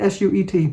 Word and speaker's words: suet: packs in it uh suet packs so is that I say it s-u-e-t suet I think it's how you say it anyway um so I did